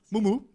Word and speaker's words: Mûmû: Ça s'écrit Mumu, avec des petits chapeaux dessus, voilà. C'est mon petit credo pour en fait me présenter, je l'aime bien. Parce que souvent, en fait, on dit Mumu, mais non, c'est Moumou.